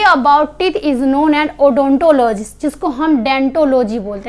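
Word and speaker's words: odontology: अब ये डेंटोलॉजी क्या होता है, देखिए लिखा जाता है ओडोंटोलॉजी, लेकिन पढ़ते हम इसको डेंटोलॉजी, क्योंकि ओ क्या होता है, वो साइलेंट होता है।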